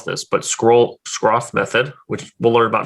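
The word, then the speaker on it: Schroth: effie so effie what is the did i pronounce that right shroff method yes method it's a method that was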